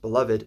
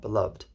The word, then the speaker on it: beloved: my heart Blessed Be beloved pronounced beloved not beloved sooted be and many